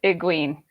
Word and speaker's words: Egwene: So Kitty, what's the actual pronunciation? You got it right. It's Egwene. Yeah. And Great job, too called it Egwene.